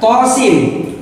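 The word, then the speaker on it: طس: Kemudian selanjutnya adalah tosin. Tosin to-nya 2 harokat, sin-nya 6 harokat.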